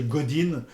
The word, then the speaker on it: Godin: Bon en anglais, on prononce Godin mais ce monsieur Godin ou Godin, c'est quelqu'un d'important dans le marketing et la communication digitale.